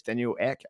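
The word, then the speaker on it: Daniel Ek: and it's got the guy I think it's Daniel Eck is that how you say his name yep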